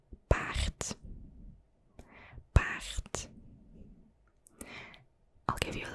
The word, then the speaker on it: paard: It's pronounced paard.